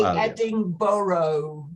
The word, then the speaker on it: Edinburgh: Well, Americans can never get it right. They always say Edinburgh, don't they? Borough.